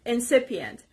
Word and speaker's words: incipient: word is incipient incipient this s is on the second part incipient it's an adjective and